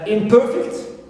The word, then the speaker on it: imperfect: I have imperfect. Per is stressed, it contains long vowel, right?